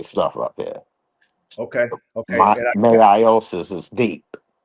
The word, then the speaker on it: meiosis: Meiosis is deep.